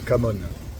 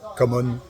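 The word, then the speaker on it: Cảm ơn: C'est pas la super prononciation, mais j'arrive à me faire comprendre. Et pour dire merci, c'est Kamon.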